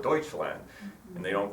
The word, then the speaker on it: Deutschland: for three years except the Germans don't call it Germany they call it Deutschland and they don't call